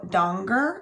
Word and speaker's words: Danger: about a girl named Rico Donger and donger is spelled danger so you can imagine that her name gets mistaken a lot for Rico danger even though she does